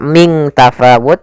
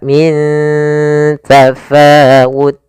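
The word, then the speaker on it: مِنْ تَفَاوُتٍ: Cara membacanya, nunnya disamarkan ke huruf ta, bukan dibaca ming tafawut, tapi dia min, ya ikhfa-nya langsung ke ta, min tafawut.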